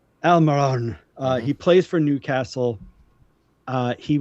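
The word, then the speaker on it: Almirón: I say his name very phonetically. U.S. phonetics, right? I don't roll my R's or whatever, but Almiron.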